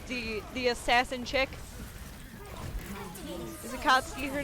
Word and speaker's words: Akatsuki: was log horizon i want a cosplay um akatsky one of these days i think is that how you say her name the um the check the check the uh the the assassin chick is akatsuki her name did i say that right um